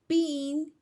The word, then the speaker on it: pingüino: diéresis, which are just two little dots over the U to pronounce the U between the G and a vowel like E or I. Let's look at the ejemplos. Pingüino, pingüino, which means penguin, pingüino.